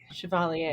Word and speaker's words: Chevalier: Chevalier.